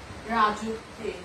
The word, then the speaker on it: রাজত্বে: বন্ধুরা, এখানে কয়েকটি শব্দ আছে, দেখো, রাজত্বে, দাসত্বে, এই শব্দগুলো কিন্তু ওকার যোগে উচ্চারণ করতে হবে। রাজত্বে, দাসত্বে।